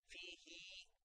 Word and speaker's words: فيه: vertical kasra okay and it should be pronounced like there is a ya sakin on that one fihi longer than kasra and this is only